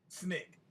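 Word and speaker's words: SNCC: student non-violent coordinating committee or snick which we pronounced snick okay i'm going now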